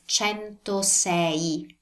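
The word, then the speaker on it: centosei: will be perfect so with this six the most common mistake I see students make is to kind of pronounce the I too fast or not pronouncing that at all and but you want to pronounce it well to make it noticeable so it's chento say can you hear the e sound the sound pay attention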